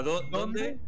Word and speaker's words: dónde: ¿A dónde? Sí. La primera de todas es ¿dónde? Con acento en la O.